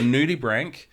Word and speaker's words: nudibranch: then Branch b-r-a-n-c-h okay but it's pronounced Brank okay because it's sure I was gonna say Scottish but no it's uh not Italian Latin Latin okay yep so nudibranch um news Frank Bloom